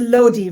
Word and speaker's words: Lodhi: Yeah, it's a Lodi rather than Lodhi.